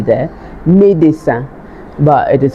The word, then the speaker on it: médecin: Médecin. But it is pronounced médecin.